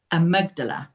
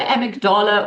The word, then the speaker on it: amygdala: Let's now talk about trauma and our brain's alarm system, the amygdala. Did I pronounce it correctly? I always get it wrong. So it's either amygdala or amygdala. Okay. I think it's just a preference.